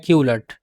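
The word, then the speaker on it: culet: है इसको बोलते हैं क्यूलेट। क्यूलेट अक्सर लोग इसे कल्ट बोलते हैं लेकिन कल्ट ठीक प्रोनाउंसिएशन नहीं है। सो यह क्यूलेट है।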